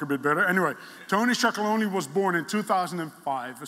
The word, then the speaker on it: Tony's Chocolonely: I think 80% of the Dutch people pronounce it wrong, say Tony, Chocolonely or something.